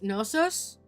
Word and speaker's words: Knossos: It was sacred to the goddess at, I'm gonna say it's Knossos. I feel like the K is silent.